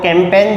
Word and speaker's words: campaign: देखिए अब अपनी सेनाएं जो हैं वो कैंपेन चलाती हैं, तो कैंपेन की राइट स्पेलिंग क्या होगी? CAMPAIGN, यहाँ जी साइलेंट हो जाएगा।